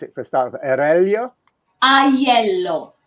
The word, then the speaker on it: Aiello: How do you pronounce it for a start? Aiello? Aiello. Aiello.